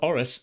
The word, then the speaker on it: Aris: So, Aris sounds a lot like arse, doesn't it? But, it's rhotic because it's two syllables. So, it has the r at the beginning of the the second syllable.